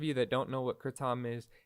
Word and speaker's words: kratom: um i've also got some kratom or you know how it's said properly some kritam um you know i